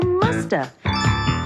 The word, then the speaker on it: must have: And sometimes we don't pronounce the V. And so you hear musta.